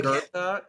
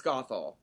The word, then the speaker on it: Gothel: Mother Gertha, Mother Gothel. Okay. It's Gothel.